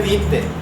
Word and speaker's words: byte: Porque si yo digo que utiliza un bit, ¿será lo mismo que un byte? No, ¿verdad? Pero ahí dice bit. Pero míreme, si usted está hablando ya de pronunciar como dice, ahí dice bite.